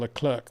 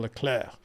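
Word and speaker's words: Leclerc: me regularly for for calling him charl L clerk when she says it should be charl laclair and I keep saying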